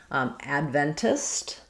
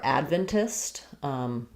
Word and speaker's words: Adventist: If I'm saying it the first way with first syllable stress, I'm going to have the a vowel, Adventist, which is going to sound like a clear ad. And then because I'm stressing on the first syllable, my ven syllable is going to be more like vin, or just even vin, Adventist.